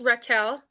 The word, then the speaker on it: Raquel: So it's pronounced Raquel. Yeah, Raquel, yeah. And I just think of you as Stronghold Mom, like on your Instagram.